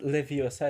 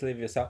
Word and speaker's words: Leviosa: It's not Leviosa, it's Leviosa. Oh, okay, my bad. Also, I love how you pronounce it like that.